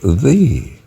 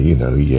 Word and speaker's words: ye: ye actually was not, the Y was not pronounced as a y, it was pronounced as a the. So it's walk thee in it, thee being the singular of you.